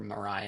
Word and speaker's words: Maria: We had one person stand for Mariah at one point which apparently is the way you pronounce that even though it's spelled like Maria.